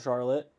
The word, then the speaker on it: Charlotte: have a town that's spelled identical but we call it Charlotte it's charlot charl lot in Vermont and a lot of